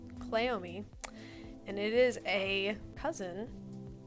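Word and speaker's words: Cleome: is a plant and it is called clomi you can look it up it is spelled CLE e o m e clomi and it is a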